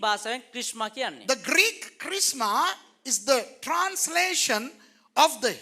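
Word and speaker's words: χρίσμα: You know, don't pronounce the S. Just say Christma.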